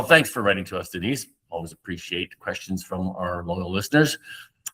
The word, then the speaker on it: Denise: Am I pronouncing that right, Tom? Denise? Denise, yeah.